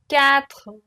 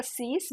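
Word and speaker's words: cinq: S is silent cat cat Sun C CE now some people say it CE some people say C I prefer CE because when I was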